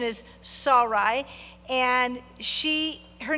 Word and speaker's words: Sarai: be honest with you, I've always called her Sarai. Well, I've called her something different probably all the time. But the correct pronunciation is Sarai.